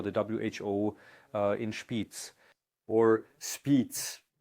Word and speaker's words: Spiez: WHO uh inputs or speez I believe pronounce it correctly as the Swiss say near Lake Thun gain of function research is being conducted um you found that out.